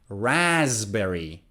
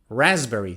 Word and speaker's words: raspberry: or another one is a fruit raspberry raspberry so it's not raspberry it's raspberry i love raspberry milkshake